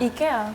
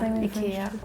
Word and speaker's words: IKEA: what it's actually called what is it actually called Ika oh yeah Ika Ika it's kind of same as Italian actually yeah it's kind of similar in Spain we do the same we pronounce the E very Ika very like hard and long Ika yeah Ika Ikea we say Ikea yeah but I do when I speak English I always say Ikea does it like hurt